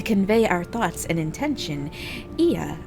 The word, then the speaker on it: Ea: When the vibration of vocal folds was still required to convey our thoughts and intention, Ia, I believe, was the pronunciation used when referring to our people.